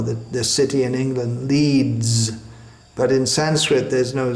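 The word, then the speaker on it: Leeds: end of a word just like the word leads it spirits written with an S but it's pronounced something like a Zed leads he leads us or the the city in England leads but in Sanskrit there's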